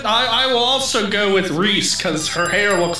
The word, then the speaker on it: Reese: go ahead hush ah it rhymes with reese's pieces reese i i don't think it rhymes i think it just is that's a slant rhyme oh cause it's spelled a little bit different go ahead hot wire